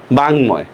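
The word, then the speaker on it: বাঙ্ময়: ঠিক আছে, বাংময়।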